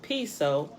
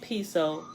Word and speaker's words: Piso: the creation of calpurnia's piso pronounced piso it has a spelling p-i-s-o but pronounced p-e-s-o pronounced piso back the new testament the church and christianity were all the creation of the calpernius peso pronounced peso family who